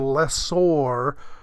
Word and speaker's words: lessor: The rhyme is, the lessee rhymes with me, and I'm the little guy. The lessor rhymes with landlord, and that's the big guy.